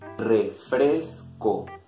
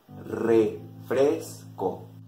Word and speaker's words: refresco: Pay attention in the pronunciation, especially in the R. In the letter R. English R? Rain. Spanish R? Rain. Rain. Refresco. Refresco.